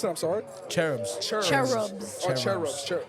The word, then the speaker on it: Cherubs: I'm sorry cherubs cherub cherubs cherubs CH just a hard CH all right bet say